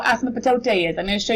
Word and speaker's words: asymptote: called, I know it's a really silly name, A-S-Y-M-P-T-O-T-E.